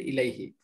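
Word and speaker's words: إليه: ইলার সাথে আমরা যদি হা যুক্ত করি হু, তখন ইলার পরে হু হয় না, উচ্চারণটা হবে ইলাইহি।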